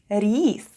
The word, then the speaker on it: рис: The first sound is R, then goes I, and then we have S. And all together it's рис. Try saying it with me.